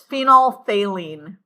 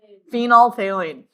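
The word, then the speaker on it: phenolphthalein: Phenol phthaline. But you don't pronounce the th. It's just or actually you don't pronounce the ph in the middle. It's phenolthalene. Phenolthaline.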